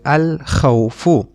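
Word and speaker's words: الخوف: Now you see in this noun we do pronounce the lam. We pronounce it as al-khawfu. We pronounce the lam because kha, this letter is one of the moon letters, and we just learned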